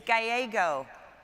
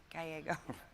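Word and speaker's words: Gallego: how do we ever I've heard your name pronounced it's gyo Mayor Kate works I'm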